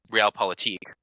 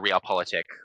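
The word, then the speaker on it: Realpolitik: the strictctures of um real politique or real politic I I've heard pronounced variety of ways um we you know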